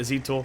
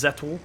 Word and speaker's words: Zetor: I call it a Zetor. Always have... but apparently it's Zetor, so apologise.